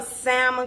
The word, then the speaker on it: salmon: And it is going to be, okay, you know salmon croquette. No, wait a minute. Salmon croquette. Can't pronounce the L because I get a whole bunch of comments.